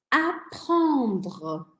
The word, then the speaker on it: apprendre: Esse aqui é um desafio de pronúncia. Vou até pôr a câmera maior em mim. Apprendre, apprendre, aprender, apprendre. Se para você for difícil falar esse apprendre, faça uma pequena pausa entre a consoante que vem junto com o R e o R.